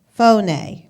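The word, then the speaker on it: φωνή: that Strong's 54:56 and is transliterated as phone-a and pronounced phone-a which means a sound or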